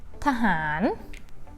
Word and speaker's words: ทหาร: It doesn't fall into that combination. That means you pronounce two syllables separately. First add สระอะ at the first syllable ทะ and then the second syllable pronounce normally. ทหาร ทหาร soldier.